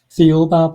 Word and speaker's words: Thiaoouba: And how do you pronounce the book again? Thiaoouba Prophecy.